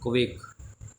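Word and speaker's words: quake: जाएगा हमारा ब्रह्म अब देख यूए से ए का उच्चारण यूए से ए का उच्चारण यू ए से यू ए से ए का उच्चारण ठीक है बेटे ये कवेक कवेक कवेक माने होता है कांपना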